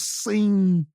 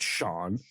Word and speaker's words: Sean: pretentious when you first met a a sea with that name did you think it was scen I thought it was scen dude yeah and then they go it's Sean and I'm like why is it spelled like that why does it say